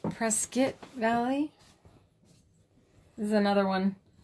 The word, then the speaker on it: Prescott: Pronounced Prescott Valley.